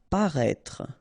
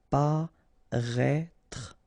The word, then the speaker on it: paraître: Paraître. Remember, you've got this accent circumflex on the top of E, but then you don't pronounce it, and then don't insist on this final E. Paraître.